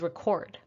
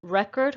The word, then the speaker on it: record: is record versus record the noun is record the first syllable is stressed record his record was good in college on the right it's a verb record record would you please record the meeting it's record versus record i also put phonetic